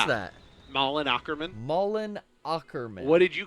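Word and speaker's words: Malin Åkerman: I thought it was Amin Madchick or something. Malin Wait, Ackerman. This girl, right? Yeah. Which girl? Malin Ackerman. How do you pronounce Yeah. that? Malin Ackerman.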